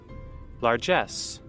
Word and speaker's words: largesse: Actually, how do you pronounce that? Largesse.